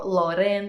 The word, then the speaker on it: Loreen: That is, of course, Sweden, Loreen, or Loreen in Swedish pronunciation.